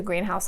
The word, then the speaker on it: greenhouse: The greenhouse is where you grow plants. 2 words, but it's a compound word, and you're going to stress that first part.